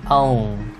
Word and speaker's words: own: khó đọc là chữ own. Own. Nó là âm O ha, sau mình đọc sau khi gần kết thúc mình đọc là in, chữ N á.